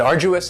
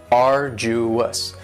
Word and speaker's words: arduous: next is arduous and arduous has three syllables and the stresses on the first syllable arduous now you don't hear that D sound that much it's not very strong it almost sounds a little like a.j arduous arduous and something that